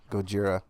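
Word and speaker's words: ゴジラ: no one clasher because the original release of the film was called goira Goa yeah Gojira yeah and that's apparently how they pronounced it back then over there it's go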